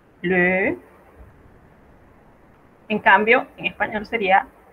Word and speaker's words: le: Cerramos un poco la boca y pronunciamos E. Le.